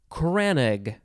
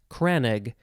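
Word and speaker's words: crannog: canoe okay next word it is kranig i think that's how you say it kranig c-r-a-n-n-o-g noun from 1608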